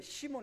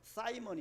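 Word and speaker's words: Simon: 사실입니다 그의 이름이 누굽니까 원래 발음이 시몬 우리 한국 한글 성경 시인데 원래 발음은 사이먼 있니다 사이먼 사이먼 메거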